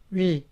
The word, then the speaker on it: 위: 위, 위. This vowel sounds almost like the English word we.